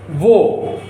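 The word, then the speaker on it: वह: He was, she was, that was informal and far would be wo. So in the Hindi script it is written wah, but in spoken language this is pronounced wo.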